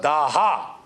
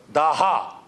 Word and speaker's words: Daha: called dasas in Iranian in Persian you don't pronounce the S you pronounce it as H when we say s they say h when we say Dasa they say they say uh daha daha right and uh when